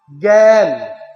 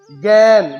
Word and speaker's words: জ্ঞান: কিন্তু উচ্চারণটা দেখ জ্ঞান জ্ঞান জ্ঞান গ নেই কিন্তু উচ্চারণটা জ্ঞান কেন গ এ জ্ঞান